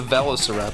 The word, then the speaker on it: velociraptor: How do you say it? Velociraptor. No, it's a velociraptor.